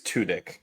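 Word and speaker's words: Tudyk: pronounce his name I I think it's tudk kind of like like tunic that makes it more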